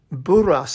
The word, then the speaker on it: Burras: So let me introduce you to Miss Sarah Burras. I'm pronouncing it that way because her grandparents were, I almost said Burat, came over from France in the 1800s, and a little town was actually converted, named after them.